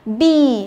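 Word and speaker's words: bee: Khi mà thấy trong một từ có nhóm chữ ee, tức là có hai chữ e đúng không, thì thường là hai chữ ee đó sẽ đọc thành y, được chưa nào? Ví dụ chúng ta có bi là con ong đúng không, nhìn thấy hai cái chữ e đó thì phải đọc nó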